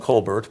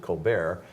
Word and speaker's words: Colbert: of Brian Colbert yeah smelled in coal Bert's but like like Steve Colbert of late-night TV Fame he also pronounces it Colbert and he hasn't been